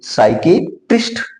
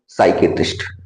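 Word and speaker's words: psychiatrist: यहां फिर पी एस आया तो पी का कोई उच्चारण नहीं होगा, इसको बोलेंगे साइकेट्रिस्ट। क्या बोलेंगे? साइकेट्रिस्ट।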